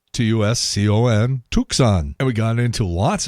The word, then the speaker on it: Tucson: He was giving the phonetic pronunciation. He said, Tucson, Tucson.